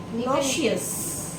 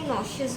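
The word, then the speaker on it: nauseous: ई ओ यू एस नशियस सब लोग mostly नशियस बोलते हैं बट इसमें जो लिखा है इट इज नोशियस okay I am feeling नशियस ओ माय God like ई पे उतना स्ट्रेस नहीं है नशस ओके हाथ ना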